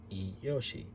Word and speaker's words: Iyoshi: And the company name is kind of based on Grandpa's initials, I from Ito, and Ryo from Ryotaro, which can also be pronounced as Yoshi, so Iyoshi.